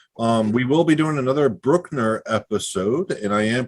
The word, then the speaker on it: Bruckner: We will be doing another Brookner episode, and I am pronouncing it properly this time, reining in how Anglophonic I am and actually pronouncing it the way it should be pronounced. It's Brookner, not Bruckner.